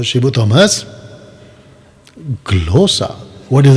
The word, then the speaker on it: ग्लोसा: अभी जो ग्लोसू, क्या बोल रहा है, इसका प्रोनाउंस कैसा है कर रहा है ये बंदा?